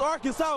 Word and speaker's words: Arkansas: And that's how you pronounce the name Arkan. It's Arkansas, baby.